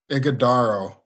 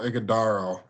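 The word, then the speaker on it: Ighodaro: I'm seeing the pronounce I'm seeing the pronunciation as IG aaro igaro you got it Oho igodo and yeah I know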